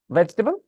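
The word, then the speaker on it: vegetable: बोलना हमें ठीक है वो वेज के बाद जो ई है व साइलेंट है पता है वेजिटेबल लेकिन टेरियन बोलना है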